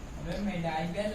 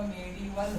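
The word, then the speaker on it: medieval: मिडाइवल नहीं होगा, मेडिवल होगा।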